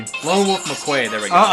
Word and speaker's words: McQuade: Lone Wolf McQuade.